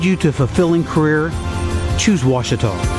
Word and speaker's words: Ouachita: university along your route some folks think the o is a queue and they say quashital hey wachita watch it talk back in texas everybody pronounces it wichita but really it's ouachita washington washington how would you pronounce it it's washita baptist university get it right it's